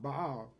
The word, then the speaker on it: Baal: In the Hebrew, that word is pronounced Baal.